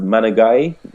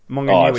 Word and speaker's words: Maunganui: And you'll be able to correct my pronunciation of the stadium at Mount Managay. Mount Come on, Maunganui. Resident Kiwi. Maunganui. So I was nowhere near on any count.